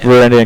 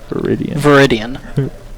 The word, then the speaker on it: Viridian: Varandian Corruptor, yep. Viridian. Nice pronunciation there, bro.